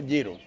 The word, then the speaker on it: gyro: Bueno, se escribe Giro, pero se pronuncia Giro.